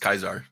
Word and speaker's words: Caesar: and KO like demanded Caesar read the letter like during the debate which by the way fun fact it's supposed to be pronounced kaisar is it really yeah